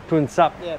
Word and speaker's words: Poonsap: Poonsap.